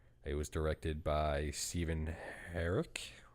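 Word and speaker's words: Herek: It was directed by Stephen Herrick. Is that how it's pronounced? Like Derek, but Close with an enough.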